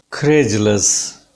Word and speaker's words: credulous: And kre, primary stress is on ka sound. Credulous, right? The word is credulous. This will be the point of ka sound, then it will fall down.